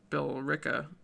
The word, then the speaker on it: Billerica: that's how you apparently Billerica that's how you say it has a little pronunciation